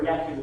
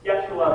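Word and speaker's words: ישו: It says, on the eve of Passover, Yeshu, which is how you say Jesus in Hebrew. Yeshua, but Jews refer to him as Yeshu to make the distinction.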